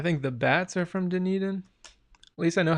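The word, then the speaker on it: Dunedin: the 3DS I think the bats are from denan at least I know how to say it now no the bats are oh yeah the bats from New Zealand are also from denan I think oh they're from Christ Church New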